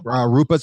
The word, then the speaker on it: Rupa: Rupa's here. Rupa, that's how you say it.